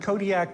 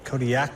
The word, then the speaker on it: Kodiak: Kodiak in realistic language the queues are more come from like your throat than a normal K does how would we pronounce it then Kodiak Kodiak not that last one